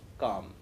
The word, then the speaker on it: calm: As you note, he read calf, calm. In English, some of the letters sometimes are silent. They are not pronounced. That L in calf and calm are not pronounced. They are silent.